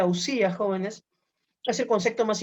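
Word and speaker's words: οὐσία: y que nos dicen las substancias que en griego se pronuncia ausías jóvenes tras el concepto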